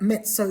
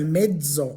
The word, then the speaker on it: mezzo: In English, we say things like mezzo soprano, but in Italian, it wouldn't be pronounced like a tz. It will be pronounced with a dzed. So, medo, medoprano.